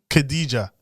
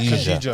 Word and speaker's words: Khadija: Khadija.